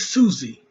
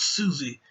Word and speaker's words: Siouxsie: I mean I think I think it's Susie even though it's not expelled Susie it's it's spelled s-i-o-u-x so I think you know anyway that's spelled Susie and the Banshees Susie